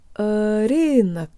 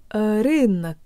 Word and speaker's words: рынок: let's do the whole thing jaw tongue lips Irene Irene Irene Irene Irene Irene neck Irene Irene look that's it guys huge shout out to mr.